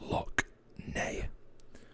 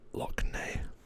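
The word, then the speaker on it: Lough Neagh: bigger again we've got I believe this is pronounced lock nay I think this is pronounced nay so I'm gonna go with that Loch nay and then actually up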